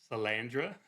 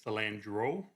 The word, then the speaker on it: Salandra: Franco, which his last name is Salandra. You pronounced it Salandro. Immediately after I think I pronounced it cilantro.